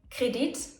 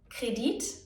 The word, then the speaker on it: Kredit: Some words even work both ways, meaning that both the long I and the short I are correct ways of pronouncing the word.